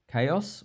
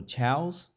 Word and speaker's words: chaos: Chaos or chows. So need to remember this one is pronounced 2 different ways. So chows or chaos depends on where you come from.